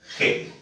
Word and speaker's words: Hegel: Ya se escribe eel, se pronuncia Hegel.